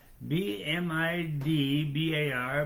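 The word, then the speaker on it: Bamidbar: right numbers I was going to try to pronounce the Hebrew b m i d b a r b midar b midbar is actually numbers okay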